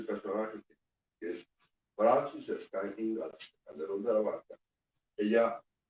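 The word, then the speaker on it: Inglis: De apellido Ingalls, porque eso así se pronuncia Ingalls, ¿sí? English, pero se pronuncia Ingalls, emigrada a Boston, ¿sí?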